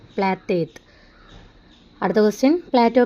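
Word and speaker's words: Πλάτων: അടുത്ത क्वेश्चन, प्लेटो अंग्रेजी भाषा का शब्द है, इसका यूनानी उच्चारण क्या था आंसर प्लेटेत.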